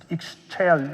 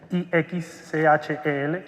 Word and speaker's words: Ixchel: Creó una solución que se llama Ixchel, no la pronuncio muy bien, IXCHEL, Ixchel.